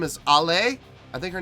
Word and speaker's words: Ale: bass player is ale a lot of people were trying to help me with pronouncing her name correctly and it's i'll lay from what i understand i'm not making fun